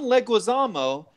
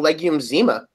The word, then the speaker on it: Leguizamo: one because there was no way I was pronouncing two of those names correctly exactly no I always thought his name was John legumes EEMA you drink a lot of may have had